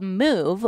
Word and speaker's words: Muuve: have covered this but it's called move which is spelled muuve and what they're going